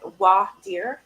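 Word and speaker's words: voir dire: like stupid as that so what is it w deer that's how you say it Willard are not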